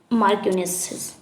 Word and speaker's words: marchioness: तो क्या होगा, मार्क्यूनेसिस। यहाँ पे स्पेलिंग लिख देते हैं हम, MARCHIONESS, मार्क्यूनेस।